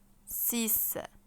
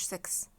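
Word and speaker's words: six: تعالوا نرجي لرقم 6 اسمه سيس سيس ما اسموش سكس سس ده في الانجليزي حضرتك اسمها ايه بالفرنش سيس سيس الاكس هنا هتنطق اس يبقى اسمها ايه سيس طب رقم سبعه خلي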